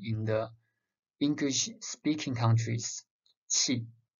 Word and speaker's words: qi: And when we study the basic theory, the qi, Q-I, some students doesn't want to pronounce as qi, they pronounce as Q-I. And yin and yang, they don't want to pronounce, instead they say y-i-n or y-a-n-g.